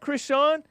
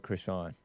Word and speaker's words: Crishaun: What up, Crishaun?